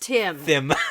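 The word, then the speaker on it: Thim: oh geez no t-h-i-m yeah but it's pronounced Tim that's not them it's Tim it reminds me of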